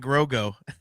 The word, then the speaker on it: Grogu: Nick Hall said it right. Way to go, Nick. He says we are getting Mando and Grogu.